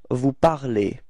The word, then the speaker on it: vous parlez: And it's pronounced E, okay? So you should pronounce E, all right? So you'll get vous parlez.